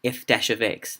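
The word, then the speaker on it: f′(x): We say f dash of x. That's how you say it.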